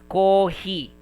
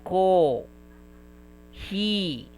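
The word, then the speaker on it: コーヒー: The reason for that is the the the pronunciation of the um what do you call this? The pronunciation of that letter or the sound of that letter is being prolonged co. It will be read as co he.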